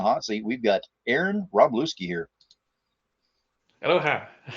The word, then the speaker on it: Wroblewski: It's Wroblewski. The second W is pronounced as a V.